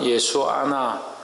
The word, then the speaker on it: 여호수아: 그래서 호세아나 예수나 예수아나 여호수아나 다 같은 말이다. 그러니까 예수님, 여호수아가 특별히 예수님의 오실 모양을 많이 닮고 있다. 그래서 이름도 여호수아라고 하지만 사실은 발음상으로는 예수아 하는 것이 맞고 예수님도 발음적으로 볼 때 예수아 이렇게 발음이 되는 겁니다.